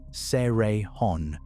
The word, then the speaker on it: Cerrejón: Nothing in Cerrejón, pronounced Seh-reh-hon, grew small.